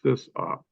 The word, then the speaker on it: sysop: a bulletin board, and the pronunciation we've always used is sysop.